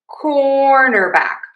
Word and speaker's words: cornerback: Cornerback cornerback cornerback cornerback cornerback.